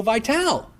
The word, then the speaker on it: Vitale: And all of a sudden, out of nowhere, boom, Joe Vitale's podcast is at the very top of the list. Everybody's going, who is Joe Vitale? I think is how you pronounce it. Remember, Vitale, tomato.